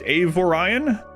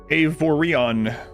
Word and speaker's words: Avorion: Avorion. Avorion. That's how I was pronouncing it. And then a couple people said, I think that part's pronounced Orion.